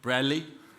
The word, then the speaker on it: Bradley: the only man who pronounces my name without a D Bradley and I know he